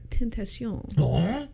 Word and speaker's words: Tentation: I believe the pronunciation is Tentation.